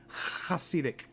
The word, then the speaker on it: Hasidic: with an M the plural huh sedum it's pronounced Hasidic I'll scenic cuss sedum go ahead try to